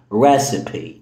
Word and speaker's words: recipe: recipe دي من الكلمات القليلة في الانجليش اللي الاي في الاخر فيها بتتنطق. بص بالراحة اهي recipe.